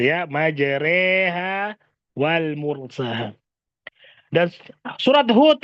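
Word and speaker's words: مجريها: surat hud ayat 46 maka bacanya majreha Wal mursaha gitu ya majreha Wal mursaha dan surat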